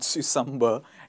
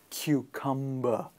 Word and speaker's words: cucumber: And now you know it is not susumber, it is cucumber, the first hard K sound.